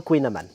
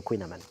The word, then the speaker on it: kouign-amann: Et il y a une prononciation à la bretonne.